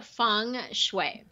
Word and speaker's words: Feng Shui: you you've got this Feng Shui stuff am i pronouncing it correctly feng shui your function you're pretty close it's fun I'm fine as if it were you a Fung Shui Fung Shui got it yeah and it